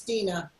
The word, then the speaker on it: Dina: It's Dina. Dina.